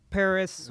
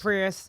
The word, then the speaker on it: Prius: in the UK where there are the Toyota Paris how do you say Prius Prius yes or the other cars no they're little